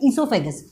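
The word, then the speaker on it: oesophagus: इसमें ओ साइलेंट होता है, इसको हम पढ़ते हैं ईसोफेगस।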